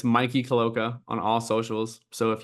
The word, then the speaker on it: Mikey Caloca: connect with me my name is hard to pronounce well for some people but it's Mikey Koka on all socials so if you want to